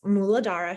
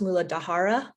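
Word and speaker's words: मूलाधार: root chakra's name is muladar chakra muladar mulaa right there's a there's a sneaky H in there so um all these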